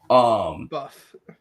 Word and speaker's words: Buff: Buff. Kamen Rider Buff Bull, or what the hell we're going to call him. Because it rhymes with tough.